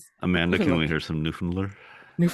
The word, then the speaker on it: Newfoundland: Newfoundland. Newfoundland. Newfoundland. Newfoundlander. Newfoundland. Newfoundland. There you go. There's no D's. Don't say the D's. Amanda, can we hear some Newfoundland?